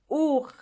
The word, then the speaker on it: Uhr: Uhr. Uhr. Means clock. And the H in this case is silent.